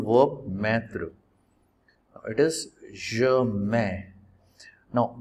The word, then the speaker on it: mets: It is je mets. Now don't say T and don't say S. Always say m.